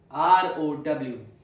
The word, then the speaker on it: row: single heteronym which is r o w. It has two different pronunciations. Let's take the first one. The first pronunciation is row which rhymes with go. So go, row. Row.